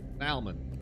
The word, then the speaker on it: salmon: You pronounce the L in salmon. Yeah. Are you not supposed to? Salmon.